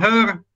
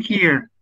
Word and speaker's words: here: Ada yang bilang hair, ada yang bilang hair, ada yang bilang her. Yang betul itu here.